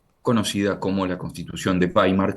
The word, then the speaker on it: Weimar: En segundo lugar, la Constitución alemana de 1919, conocida como la Constitución de Paimar, que se escribe weimar W e y latina m a r. Weimar Baimar.